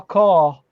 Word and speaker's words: QoR: Daniel Smith's or Core. Okay. And it's spelled QOR.